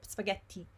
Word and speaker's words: spaghetti: So the problem with the word spaghetti is that, first of all, there's a double T. And as I said to you, when you want to do a double T, pretend that you have okay, if you're an English native speaker, pretend that there is a D there and make a D stronger. So spaghetti, okay?